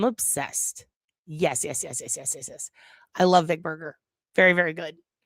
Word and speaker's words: Berger: I love Vic Berger. Very, very good. Also, it's pronounced Berger, but I always say Burger.